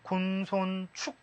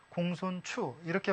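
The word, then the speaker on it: 公孫丑: 3시 를 이야기 하죠 그런데 이게 축이라고 일으키기도 하지만 이렇게 사람 이름으로 들어갔을 때는 중국 발음 그대로 쓰입니다 공손 추락 그래서 이거 치우 이렇게 바람이 나오는데 이때 이것은 춥니다 시험 문제처럼 글자가 나오면 군 손 축 이렇게 쓰면 안돼요 중국식 발음 그대로 공손 추 이렇게 발음을 써 놔야 여러분이 이것은 임명 이나 지명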